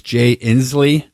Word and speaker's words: Inslee: who I really like the thickest name is jay Inslee mmm is how you pronounce it he's the governor of